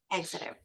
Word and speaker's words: Exeter: Did I pronounce that right? Exciter. Yeah exitter.